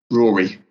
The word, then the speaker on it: Ruadhri: Ruadhri. What's that meant to be? Rory.